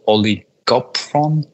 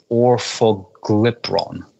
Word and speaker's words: orfoglipron: bad at pronouncing it, I think it's called oligopron. Drug names are always kind of one of the harder parts of pronunciation. But effectively, it's orfoglipron. That's it.